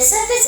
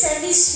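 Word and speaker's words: SEVIS: go ahead and pay your service fee the service is spelled um s e v i s service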